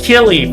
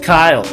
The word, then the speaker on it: Kille: is Kyle yes I thought it was Killy for a decade but apparently it is pronounced Kyle I'm on that note